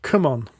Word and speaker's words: CMON: mini or not that it is actually pronounced come on as in come on but aggressive I assume so yeah I